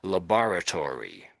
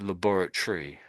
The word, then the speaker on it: laboratory: The Americans will say labar laboratory laboratory. Um but the but the way the Brits say it is more um like laboratory laboratory. So at the end we don't say tree at all. It we don't say to we say we say tree.